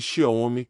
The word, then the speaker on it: Xiaomi: A palavra divide-se em duas partes, Xiao e Mi, e lê-se Xiaomi com acento tônico na segunda sílaba.